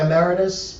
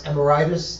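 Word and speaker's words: emeritus: up it's like uh the Rabbi ameritus which they very often pronounce amortis like it's a disease um it's it's it's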